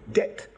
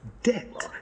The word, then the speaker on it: debt: of orthography as to speak doubt fine when he should say doubt debt when he should pronounce debt d-e-b-t not d-e-t he kept the calf